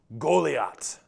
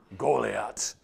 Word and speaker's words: Goliath: little bit his his name would have been pronounced golat doesn't that just sound like a giant Bruiser golat I picture them shouting his name when he's